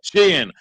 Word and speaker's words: Sheehan: That's how it's pronounced, right? Mm-hmm. Sheehan from the Foundation for Delaware County.